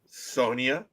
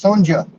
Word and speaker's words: Sonja: Sonia. No, it's Sonja.